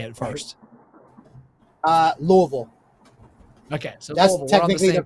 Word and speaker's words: Louisville: louisville how do you say it first uh louisville okay so that's technically the correct pronunciation okay so tell me what restaurants have